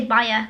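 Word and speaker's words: Baija: the Baer Bea Baer I want to say baa cuz that's how like youd pronounce it in Spanish b a i j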